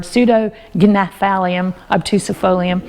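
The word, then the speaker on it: Pseudognaphalium obtusifolium: Now, it does start with a P, pseudo, P-S-E-U-D-O, nephthalum obtus, but that's a G word, pseudognephthalum obtusifolium.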